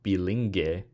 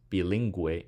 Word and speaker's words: bilingüe: But yeah, you will put the two dots over the U here to show that the U isn't silent. It's not bilingue or pinguino, it's bilingue and pinguino.